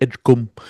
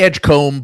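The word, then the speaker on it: Edgecombe: announcer was from, but he pronounced it edge. So, we've just always said it in that way ever since. And I think it is technically pronounced that that way.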